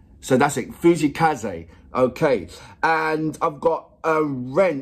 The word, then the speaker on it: Fujii Kaze: He goes, his name is pronounced Fujii Kaze. So that's it, Fujii Kaze.